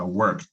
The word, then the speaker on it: worked: Por ejemplo, el verbo trabajar en pasado se pronuncia worked con la T.